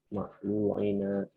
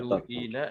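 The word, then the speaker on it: مملوئين: Zahaba amal ila amalihum ma'lu'ina nasyatan. Mamlu'ina nasyatan. Ada nggak di sini halnya? Ada Tat. Yang mana? Ma'lu'ina nasyatan. Mamlu'ina itu dibacanya mamlu'ina nasyatan.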